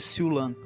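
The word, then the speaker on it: Siu Lam: sua fuga do Monastério siulan que é a pronúncia em cantonês para chaulin caracterizado por três pés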